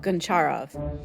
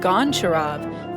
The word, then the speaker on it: Goncharov: Most film nerds go for the Russian pronunciation, which is used in the movie. But you can always tell a noob on Letterboxd who pronounces it Goncharov, as in the song,